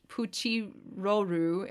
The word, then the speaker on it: Pitolol: So Cyprine is pronounced Shipurin in Japanese, and Pitolol is pronounced Puchiroru in Japanese.